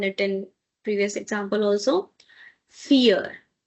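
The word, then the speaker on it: vier: Because it's i e, so this should give you e sound. So, the number four is called fear. As we have done it in previous example also, fear.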